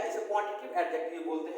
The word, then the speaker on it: adjective: तो हमने आज एडजेक्टिव के बारे में क्या जाना कि एडजेक्टिव नहीं होता बल्कि एडजेक्टिव होता है, इसका डी साइलेंट होता है।